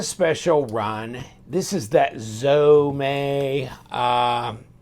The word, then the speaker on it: Zome: that you get and so right here it's pronounced zome a and this is a glow-in-the-dark FRN handle with